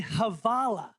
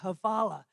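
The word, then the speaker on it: hvala: from Eastern Western Europe Bosnian you say havala HV a havala thank you in Bosnian and I hope all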